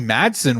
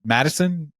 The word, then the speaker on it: Madison: and her role um when Mickey Madson won Madison sorry I keep saying it wrong keep saying like mad